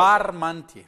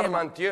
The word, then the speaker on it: Parmentier: E pronuncia bene come si chiama questa cosa. Parmentier. La crema. Parmentier.